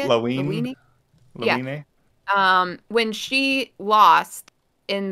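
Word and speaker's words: Lawine: When the gray-haired girl, Lavine, is that how they say it? Lavine.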